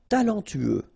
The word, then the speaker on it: talentueux: talentueux. Final X not pronounced. Then you get this U together. Then TU, tueux.